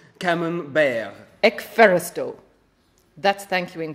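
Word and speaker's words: Camembert: oh B it's bear it's pronounced bear it's French camon bear eeral that's thank you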